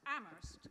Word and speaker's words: Amherst: well first of all you have to pronounce amherst correctly you always drop the h okay thank you how